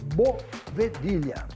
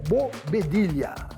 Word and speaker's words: bovedilha: Nós temos um produto que tem um nome chamado bovedilha, tá? Bovedilha ou bobedilha. Existem as duas pronúncias no mercado, tá?